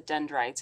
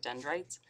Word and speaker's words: dendrites: well dendrites kind of sounds like kites um so you can think about like the branches um that come out of the Som and receive signals from other neurons and muscles this kind of rhymes with kites so we've got a